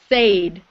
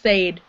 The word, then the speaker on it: said: When you were reading it, you said said, but we don't pronounce said. We say said.